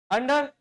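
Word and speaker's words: under: अंडर। यह ना तो ओवर है ना तो यह अंडर है। यह ओवर है यह अंड है। खाने वाला अंडा नहीं अंडा। समझे बात को?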